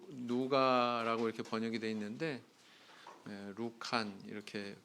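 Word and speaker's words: Λουκᾶν: 누가복음의 원서의 제목은 카타루칸, 이렇게 누가라고 이렇게 번역이 되어 있는데 루칸 이렇게 발음을 하죠.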